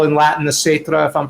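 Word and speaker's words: caetra: But wait, say it again, because Gaita, it's a C, and which in classic Latin, therefore, as we discussed before you came on board, is pronounced with a K.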